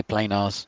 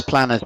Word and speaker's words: planars: I say planars. Planars. Because planners makes it sound like something to write notes in.